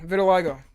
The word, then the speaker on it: vitiligo: Vitiligo.